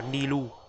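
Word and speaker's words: Nilou: Gọi đọc sao nhỉ? Nilu hay Nilu hay là Nilu hay là Nilau nhờ, đọc nó khó đọc ghê, nhưng mà mọi người quen đọc sao thì đọc. Mình vẫn đọc là Nilu. Đấy. Đọc là Nilu cho dễ.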